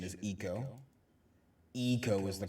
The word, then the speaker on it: Ico: coincidence therefore it's perfectly reason and reasonable to pronounce it following the english model of icon but it's actually eco is that what you're